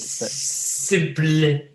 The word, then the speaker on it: SYMPL: So it's spelt a bit weird. But Simple.